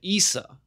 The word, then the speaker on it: Isa: And by most accounts, they pretty much just pronounce it Isa.